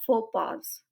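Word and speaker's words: faux pas: ज्यादा करते हैं और इसे हम प्रोनाउंस करते हैं फो पास फो पास मीनिंग होता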